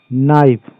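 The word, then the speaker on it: knife: का कावे हो गया नाइफ यहां पर के साइलेंट है साइलेंट लेटर कभी-कभी बच्चों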